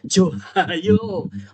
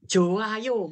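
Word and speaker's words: 좋아요: Jadi bacanya Joda, Johayo. Orang neng saya baca gitu tuh. Joayo bacanya ya.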